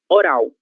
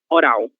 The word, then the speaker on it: oral: Ela possui a letra L no meio da palavra, mas essa letra L ela segue em posição final de sílaba.